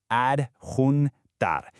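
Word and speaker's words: adjuntar: Let's get that pronunciation right. Ad hunar.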